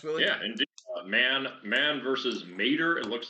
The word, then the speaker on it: Mater: Man versus Mater. It looks like it's the pronunciation. It's Matter, but with just one T.